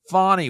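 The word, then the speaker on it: Fani: Well, some people pronounce it Fawny Willis. I call her Fanny. I thought it was Fanny.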